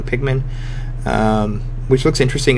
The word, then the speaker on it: Pikmin: But, uh, you know, they're getting a new Pilman Pikmin. Sorry, I said it wrong. Pikmin.